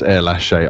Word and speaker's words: Erlacher: And then afterwards it was correctly pronounced as Erlache.